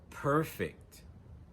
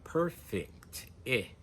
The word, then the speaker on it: perfect: When we use that same word as an adjective, we stress the first syllable. Perfect. Perfect. And notice in my pronunciation, I say perfect.